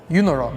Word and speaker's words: EUNORAU: EU, Europe. Okay. NOR, North America. Okay. AU, Australia. Australia. Okay. Put it all together and you have EUNORAU. EUNORAU. Okay. And that's how you pronounce it as well.